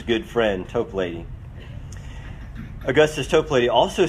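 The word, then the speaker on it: Toplady: by the name of augustus top lady or i've heard it pronounced tope lady who also wrote a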